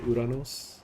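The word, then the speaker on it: Ouranos: you want me to pronounce it in the Greek fashion uranos wiy edes are so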